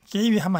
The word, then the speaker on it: 给予: 자, 주다고 할 때 이때는 给予라고 하지 않고 给予라는 급자죠, 급자, 급여, 给予. 요 발음 조심하시고 给予하면 안 되고 给予입니다.